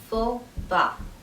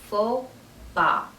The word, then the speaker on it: faux pas: and the second word the s at the end of that word is not pronounced it's silent so we say fo ba fopa the meaning of this